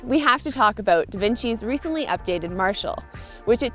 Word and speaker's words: Devinci: do you say da vinci or da vinci the fancy that's not how you say it oh yeah maple syrup